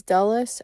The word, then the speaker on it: Dulles: And I know that it's Dulles.